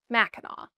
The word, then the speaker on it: Mackinac: the Anesab language, and they're all pronounced Macheno, including the bridge.